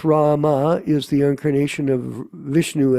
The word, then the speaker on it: Ram: Ram, pronounced Rama, is the incarnation of Vishnu as the prince of responsibility.